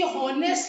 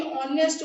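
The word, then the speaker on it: honest: वो बोला कि इसे समझाओ कि हॉनेस्ट नहीं ऑनेस्ट होता है, हॉर्नर नहीं ऑनर होता है, इसमें एज साइलेंट होता है।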